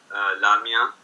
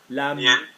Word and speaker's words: la mienne: How do you say my one feminine? La mien. La mienne.